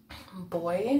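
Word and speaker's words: Boie: Now I want to take the color Boy, I think it's pronounced. It's B-O-I-E.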